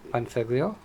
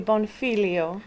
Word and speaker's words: Bonfiglio: blessed to have panfiglio did i get it right yes thank you for having me but you pronounce it another way how do you pronounce it an italian would be bonfilio yeah is that what